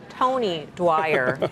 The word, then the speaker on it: Tony Dwyer: Well, our next guest that rhymes with Oni Wire says Powell got it wrong today. Let's bring him in. Tony Dwyer of Canaccord Genuity.